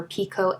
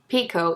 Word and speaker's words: picot: And I was like, we are two peas in a pod, because picot is a French word, so you don't say the T on the end.